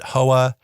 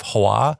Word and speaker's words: Hoa: about so this game a lot of people call it hoa it's a vietnamese developed game and i think the correct pronunciation is something along the lines of hawa so i'm going to try hawa here in this review hawa